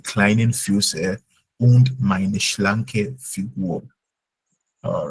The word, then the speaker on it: Figur: Und meine schlanke Figure. Figur, Just u, Figur.